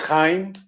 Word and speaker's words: Jaim: I'm going to spell your name because I don't know how you pronounce it. Jaim. Hello, my name is Chaim. Hi. It's written in Spanish, that's why.